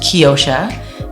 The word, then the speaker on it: Keyosha: It's pronounced Keyosha, meaning key of the ocean.